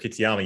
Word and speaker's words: Kitayama: Like these guys, when you take a look at how they play this course, it's, if your guy is up, Kurt Kitayama, you did pronounce that correctly, Koff, so congratulations.